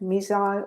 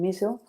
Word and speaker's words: missile: Both pronunciations are correct, missile and missile.